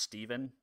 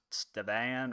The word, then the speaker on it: Steven: So my name is spelled weird. Most people don't know that my name is pronounced Steven. They pronounce it like Stevan or Stevan or some weird combination of that, and so I've always